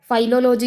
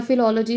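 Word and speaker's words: philology: हैं फिलोलॉजी, ठीक है, फाइलोलॉजी या फिलोलॉजी, जैसे भी आपने इसको प्रोनाउंस करना है।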